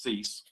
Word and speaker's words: Cease: that on my screen yes you're pronouncing correctly it's cease okay good uh we